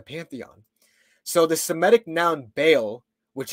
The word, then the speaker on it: Baal: So the Semitic noun Baal, which in Hebrew is Ba'el, sometimes it's pronounced Baal, but a lot of times it's pronounced Ba'el, meant the owner or the Lord, okay?